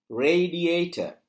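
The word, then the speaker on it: radiator: நாலு உச்சரிப்பு வரக்கூடிய சொல் ரே டிட்டர் ரேடியேட்டர் இதுல பார்த்தீங்கன்னா ரேங்குற இடத்துல உச்சரிப்புக்கு அழுத்தம் கொடுத்திருக்காங்க சொல் கோடு போட்டிருக்கு மேலுக்கு ஆருக்கு மேலுக்கு ஆகவே இந்த இடத்துல ஆர் என்ற சவுண்டை உயர்த்தணும் ரேடியேட்டர் அதேபோல நீங்க பாருங்க அப்ரி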